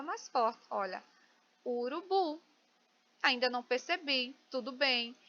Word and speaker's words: urubu: Urubu, bu é a sílaba tônica mais forte, né?